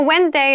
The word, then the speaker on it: Wednesday: wednesday wednesday wednesday so wednesday is the middle day of the week but keep in mind this is pronounced wednesday there's a d there but we don't say